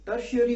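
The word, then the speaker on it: tertiary: टर्शियरी में टी का pronouncing क्या है, एस एच, टी का प्रोनाउंसिएशन एस एच, श है, टर्शियरी रूट।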